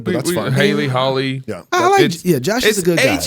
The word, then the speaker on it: Hawley: We pronounce it Hawley, but that's fine. Hawley. Yeah. Josh is a good guy. Hawley. It's very confusing. AW is always pronounced aw.